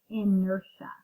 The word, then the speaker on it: inertia: this isn't felt kind of funny but it's pronounced inertia inertia is an object's resistance to change its